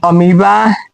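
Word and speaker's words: amoeba: जैसे ये होता है पीपल, ये होता है अमीबा, यानी कि ई के बाद भी आ गया वो तो वो साइलेंट हो जाएगा। यहाँ पे ई के पहले भी आ गया वो, तो यहाँ भी साइलेंट हो जाएगा।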